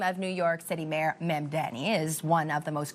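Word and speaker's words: Mamdani: According to Babbel and the Captioning Group, the name of New York City Mayor Memdani is one of the most commonly mispronounced words, with many swapping the M and the N.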